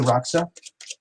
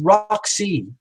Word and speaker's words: Roxy: Thank you, Roxa. Oh, yeah, yeah, yeah, yeah, yeah, yeah. Oh, I said it wrong. It's Roxy.